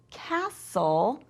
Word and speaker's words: castle: Now the T in castle, castle, even though there is a T there, it's quiet, it's a silent letter.